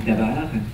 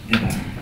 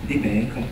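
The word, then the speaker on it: דָּבָר: Dabar. Si on prononce déber, c'est la peste en hébreu.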